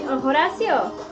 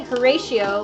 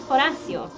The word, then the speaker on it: Horacio: Horacio. Because it's Spanish pronunciation. Like you can say Horatio, like the Shakespearean version, but it's Horacio.